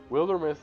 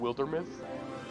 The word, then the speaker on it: Wildermyth: I don't know if you've ever heard of it, but Wildermyth is a hard recommend. It's, I highly recommend looking into it. It's spelled like wild, and then myth, like a mythos, you know.